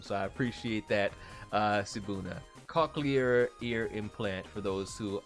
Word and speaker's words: cochlear: Okay, it's pronounced okay, cochlear. Okay, thank you so very much. I never would have come to that conclusion on my own, so I appreciate that, Sibuna. Cochlear ear implant for those who are hard of hearing.